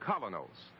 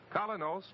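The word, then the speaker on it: Kolynos: is start cleaning your teeth with the new colonos a high polishing toothpaste its action is like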